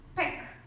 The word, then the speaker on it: peck: And then next one is peck. P-E-C-K, peck. And you can see here, P the consonant, the vowel, and you can only take a single K sound, because peck, it takes a single sound.